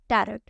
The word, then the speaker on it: Tarot: देखिए, इसको टैरोट बोला जाता है, टैरोट नहीं बोला जाता। टैरोट हम हिंदी फॉर्म में बोल रहे हैं क्योंकि हम उसकी स्पेलिंग पे जा रहे हैं, ठीक है। TAROT। कुछ लोग TARO ही लिख देते हैं, टी ही नहीं लगाते। कुछ लोग TARROT लिखते हैं, बट रियल TAROT होता है टैरोट।